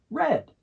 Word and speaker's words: read: of read we use red this has the same pronunciation as the color red we're almost done with